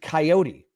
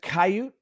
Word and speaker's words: coyote: a limb and say most people will pronounce it coyote and the people who pronounce it kaiut uh all believe it